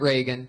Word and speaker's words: Regan: Not like Ronald Reagan. It's announced like Ronald Reagan. Reagan, but there's no A in that.